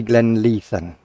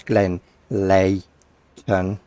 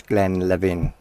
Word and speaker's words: Glenleathann: is Glenn Glenn Leighton you pronounce the T after the H so it's Glenn Layton or if you're or the the other alternative is Glenn Levin but those who are